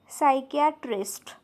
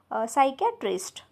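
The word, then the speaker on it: psychiatrist: सुद्धा P silent आहे त्यानंतर आहे सायकट्रिस्ट इथे सुद्धा स्पेलिंग मध्ये या वर्डच्या पी आहे पण इथे पी सायलेंट असल्यामुळे काय येणार आहे उच्चार सायकटिस्ट ओके तर अशा प्रकारे हे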